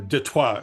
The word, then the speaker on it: Detroit: First, I'd like to begin by saying that I grew up on the streets of Detroit, or Detroit, as we would call it, the French pronunciation.